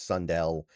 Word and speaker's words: Sundell: or Sundel or Sund I always forget the right way to pronounce it. I think it's Sundell 64.5 is still fine